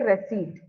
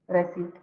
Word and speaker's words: receipt: word receip okay receip so the P silent and the C it is pronounced as s okay receipt okay ma'am receip yeah receipt very good okay this